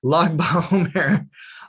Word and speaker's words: Lag BaOmer: Lag BaOmer. Lag is a pronunciation of the number 33. So it's the 33rd day of the Omer.